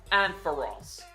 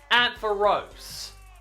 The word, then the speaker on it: Ampharos: I'm the guy that pronounces it Ampharos, not Ampharos. I feel like it would be Ampharos if it had an E at the end of its name.